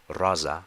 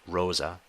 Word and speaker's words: rosa: Rai meaning Rose and careful here that uh the O is a is a short o RZA not Rosa insula insula meaning Island